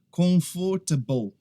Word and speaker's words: comfortable: O que acontece é que algumas pessoas acabam pronunciando todas as sílabas, comfortable, comfortable, e isso não acontece, é simplesmente comfortable, comfortable, tá?